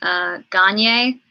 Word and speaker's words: Gagne: But last name is pronounced Gagne, like rhymes with Kanye.